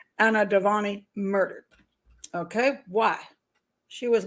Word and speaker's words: Dewani: happened why why was Anna uh let me pronounce her name correctly Anna devani murdered okay why she was murdered on her